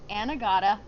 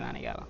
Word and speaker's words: Anegada: All my life I've been in Anegada. Gotcha. Yeah. So I'm saying it maybe incorrectly, so say it for us. Anegada. Anegada. Yeah. Some people say Anegada. I think that's the Yeah. United States pronunciation.